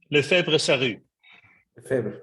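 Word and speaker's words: Lefebvre: the esteem publisher help me with the name Le febra thank you very much that's a good French pronunciation that I don't have additionally he served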